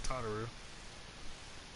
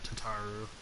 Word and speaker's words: Tataru: There's Taru or Tataru as they pronounced it multiple times.